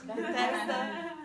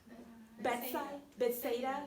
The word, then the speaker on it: Bethsaida: So when Jesus came to this city called Bethesda, so not Bethesda, Maryland, Bethesda, all the way. That one is bedside. Bethsaida, Yeah. Thank you. Yes, Bethsaida.